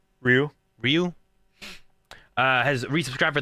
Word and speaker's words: Riou: Ryu.